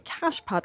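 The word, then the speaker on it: cachepot: in 1966 this is a cash pot or cash po depending on how you'd like to pronounce it and lots of great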